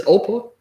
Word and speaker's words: Oprah: But how you pronounce that crap anyway? It's Oprah.